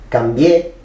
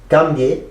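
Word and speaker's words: cambié: Donc on dira cambier et non pas cambier, qui est un subjonctif présent du verbe cambiar, ou cambier.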